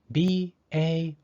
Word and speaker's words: bail: Bail is spelled B-A-I-L. Because the A and I are both vowels, the second vowel, I, is silent, and the first vowel, A, takes the long A sound.